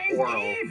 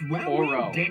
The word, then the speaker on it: Oro: So is it Oro or Oral? Oro. O-R-O. Because they say it like oral all the time.